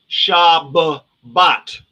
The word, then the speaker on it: Shabbat: That's why it's pronounced Shabbat.